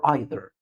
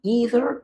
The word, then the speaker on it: either: Should I say either or either? Neither or neither? Both of them are correct. If you will speak American English, you should say either or and neither nor.